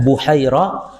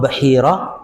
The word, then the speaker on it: Bahira: Boleh dibaca Buhaira atau Bahira ar-Rahib, sang pendeta.